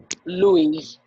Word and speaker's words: Louis: Yeah, even though the X is silent most times. Louis.